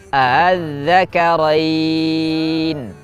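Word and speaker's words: آلذكرين: Jadi jika dibaca dengan mad lazim 6 harakat kita baca az-zakarain. Dan jika kita baca dengan tashil maka menjadi az-zakarain.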